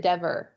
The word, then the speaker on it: Dever: I've heard it pronounced two ways. Is it Denver or is it Dever? I think it's Dever.